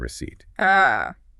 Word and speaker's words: receipt: And you must bring your receipt. The small paper with the silent P?